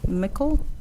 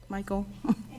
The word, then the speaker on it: Michael: I have Mickel. Michael. It's always mispronounced.